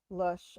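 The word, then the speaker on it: Lösche: It's just L-O with an umlaut over it, S-C-H-E. Lush.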